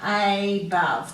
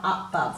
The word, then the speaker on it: above: So when we say this one, we should be saying above, not up-bove. We tend to say up-bove, we give it a schwa sound. If we find it difficult to spell, then if you say it correctly, you'll find it easier, because once you give that a long vowel sound, you know you're not going to be doubling that B.